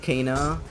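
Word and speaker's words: Kena: You might like Ka Bridge of Spirits. It's spelled key K E N A.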